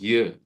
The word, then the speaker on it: Göran: I'm because in Sweden it's Göran with J and it's written in the same way but pronounced Jö.